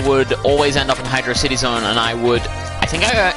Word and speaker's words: Hydrocity: off last time in Hydro City Zone, or Hydrocity Zone, or however you want to pronounce that. I'm not going to judge you, but the correct term is, in fact, Hydro City.